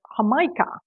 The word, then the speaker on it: jamaica: beverage is sometimes called hamikah Spanish pronunciation for Jamaica in Jamaica the beverage